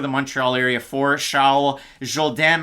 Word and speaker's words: Jourdain: So you like to see that out of the Montreal area for Charles Jourdain. Matt, everybody loves it when we go with the French pronunciation.